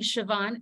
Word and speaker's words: Siobhan: moderating for the amazing siobhan that's how you pronounce her first name statute and she has